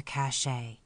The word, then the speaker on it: cache: busy Chipmunks in their cache to use the Western term that rhymes with today meaning a hiding place